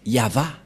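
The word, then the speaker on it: יהוה: V et he et la prononciation de ceci c'est yava voilà la prononciation de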